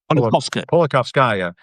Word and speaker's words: Politkovskaya: journalist, Anna, and I'm going to say her name wrong again, Politkovskaya.